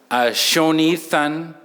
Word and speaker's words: Sho Nithan: Shonithan. So show is good, Nithan is in my mind.